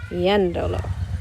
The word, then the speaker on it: yéndolo: If I add lo to the end of it, I still need the emphasis on that E. It still needs to be yendo. But that's not the next to last syllable anymore, so I need to add an accent, yendolo.